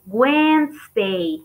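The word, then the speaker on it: Wednesday: se pronuncia when the weinstein ok entonces no suena la 2 y la e en esa palabra weinstein y estate y guasch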